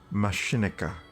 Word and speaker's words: Machinika: How do you pronounce this? Machinika.